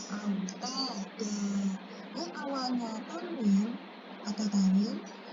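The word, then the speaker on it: أَوْتَادًا: Dia tidak dibaca autada, tapi dia dibacanya autada.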